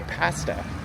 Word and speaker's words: pasta: That Canadian short vowel A pronunciation. We don't say pasta, we say pasta.